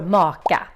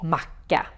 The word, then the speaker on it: maka: But they sound kind of old, and you run the risk of pronouncing it wrong and saying macka, which is a classic slang word in Swedish for sandwich.